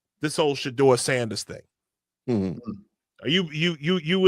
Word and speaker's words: Shedeur: Yeah, Shedeur. Shedeur.